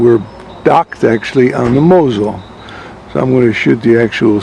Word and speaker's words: Mosel: there's ice scanning here this is the Mosel French say Moselle maybe the Americans say Moselle oh there's our boat